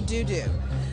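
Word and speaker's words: Deaux Deaux: We even have a small Krewe within the Krewe called Honey Doo Doo. So, but it's spelled D-E-A-U-X.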